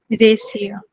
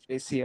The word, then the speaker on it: Raisia: Is it Raisa or Raisia? রেসিয়া। Raisia, আচ্ছা, that's a quite a unique name to be honest.